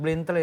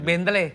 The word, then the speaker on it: Bentley: Ini baru-barunya siapa tuh yang David Blentle itu? Saya ingat tuh. Siapa? David Bentley. Ada David Bentley. Bentley apa bacanya?